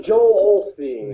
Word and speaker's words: Joel Osteen: Somebody commented, I was really going after Joel Osteen, or Austin. How do you say his name? Joel Osteen? Oh, Joel Osteen.